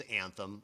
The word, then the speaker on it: Anthym: So the name of the company is Anthym, although it's spelled Anthym. So not the dictionary spelling. It's YM instead of EM.